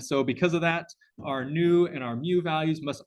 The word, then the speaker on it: nu: that they come between zero and one this new character right here that thing pronounced new in you this thing here pronounced